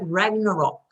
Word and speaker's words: Ragnarok: Ragnarok.